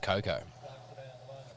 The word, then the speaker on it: cocoa: I found out recently you don't pronounce the a at the end of Coco yeah now this is